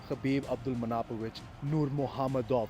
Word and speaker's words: Khabib Abdulmanapovich Nurmagomedov: number one and the greatest of all time, Khabib Abdulmanapovich Nurmagomedov. That's the correct way to pronounce his name.